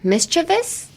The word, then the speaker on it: mischievous: Pronunciation. What would be the hard word to say? Mischievous?